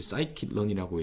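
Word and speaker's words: scikit-learn: 자, 지금까지는 그것을 파이썬에서 그대로 저희가 코딩을 해서 임플리멘테이션 했다면, 그 파이썬에는 이걸 이제 사이킷런이라고 읽는데, 머신러닝 툴박스, 라이브러리, 모듈이 있습니다.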